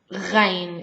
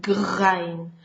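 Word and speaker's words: غين: Ghain. It exists in German and French. Ghain. It's slightly like a G and H together. Begin with a G and you will easily learn how to pronounce it. Ghain.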